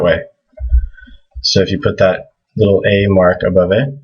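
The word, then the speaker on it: ث: So this is, again, this is like TH, TH, TH. Tha, Tha, Tha.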